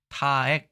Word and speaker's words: 타액: 네 , 이 단어 의 발음 에 주의 해야 합니다 . 이는 " 타액 "( 침 ) 으로 읽힙니다 .